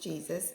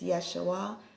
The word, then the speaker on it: Yeshua: invented right so and it's not pronounced Jesus it's Yeshua it's us excuse me